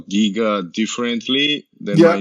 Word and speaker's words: Giga: you guys say it it's a giga you know like yeah yeah like a geek yeah yeah if you